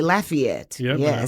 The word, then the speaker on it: Lafayette: If you're from that area, you'll say Lafayette. When I lived up at in Oxford, they say Lefay up there.